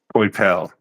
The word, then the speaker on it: Coipel: I think I don't know how you pronounce his name. Olivier Coipel. Olivier Coipel. Coipel.